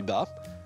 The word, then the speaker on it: bat: Il est dérivé d'un autre mot, bat, prononcé bat puis bas, attesté dans les années